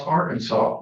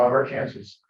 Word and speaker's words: Arkansas: could saw some speed pronounce Arkansas not our Kansas it's also illegal to